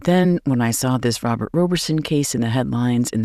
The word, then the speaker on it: Roberson: and those who say Robert Roberson. I am choosing the pronunciation Roberson because that is how those who are closest to the case pronounce his name.